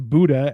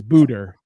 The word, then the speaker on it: Buddha: He keeps on referring to Buddha as Buddha. And he's like, Buddha's name be praised. And you're like, that's not how you say it. Why are you adding R's?